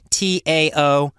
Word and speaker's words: Taoism: Now, Taoism is actually spelled with a T, T-A-O-I-S-M, but it's pronounced Taoism like it's a D.